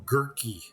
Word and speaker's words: Gurk: For some reason, I call him Gurky, but I think Gurk is how you pronounce that. Gurk. Just think of a pickle. A gorkin.